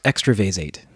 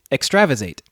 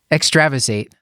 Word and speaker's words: extravasated: a good line but I've never heard it pronounced extra Vaes eight how do you say it Stuart extravasated extravasated yeah I mispronounce words all the time so